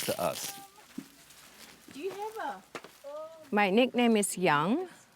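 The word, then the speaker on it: Yong: My nickname is Young. It pronounced as if it's Y-O-U-N-G, but there's no U.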